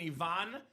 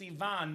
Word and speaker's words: Ivan: Because I'm Bulgarian, Robbie, and Ivan is my cousin's name. Oh, okay. Pronounced Ivan, not Ivan. So Bulgarians would call it Ivan.